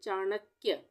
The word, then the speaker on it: चाणक्य: जैसे चाणक्य, चाणक्य, क का आधा उच्चारण हो रहा है तो चाणक्य। न्यायाधीश, इसको हम पढ़ेंगे न्यायाधीश।